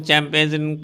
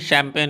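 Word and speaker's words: champagne: अरे have some शैम्पेन, याद रखेंगे इसका प्रोनाउंसिएशन चैम्पेन या कुछ ऐसा नहीं, शैम्पेन है वो, जो एक काइंड ऑफ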